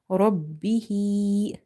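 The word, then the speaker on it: رَبِّهِ: Ba is twice, because if you open the shadda, you will see 2 bas are there. One is having sukoon sign on the top, which is silent, ba, and second ba is having this kasra. That's why we are saying robbi, ro, ba fatha rob, ba kasra bi, robbi, and ha vertical kasra, robbihi, robbihi, waw fatha wa, lam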